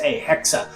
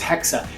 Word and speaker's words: Hexe: if you want to pronounce it, you would pronounce it in a h e k- sa hexa, which is a German word for witch. That's what the German word for witch is, is hexa.